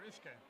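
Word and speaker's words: uisge: So Whisky is the Gaelic word for water, or Ushka is kind of how it's pronounced.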